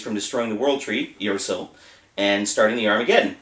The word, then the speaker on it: Yggdrasil: has told us that the proper way to pronounce the name of this game is iril so that's what we're